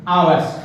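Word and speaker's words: hour: जैसे देखिए we will take an आवर्स, हालांकि देखो ये एच आ रहा है, ये कॉन्सोनेंट है, क्या है, कॉन्सोनेंट है, लेकिन इसका उच्चारण, इसका प्रोनाउंसिएशन कैसा है, आवर, वोवेल जैसा ना।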